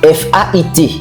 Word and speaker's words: fait: F-A-I-T. Comment le prononcez-vous? On le prononce fait. Pourquoi? Il n'y a pas de consonne prononcée après fait.